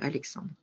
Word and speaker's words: Alexandre: Si je prononce bien, Alexandre.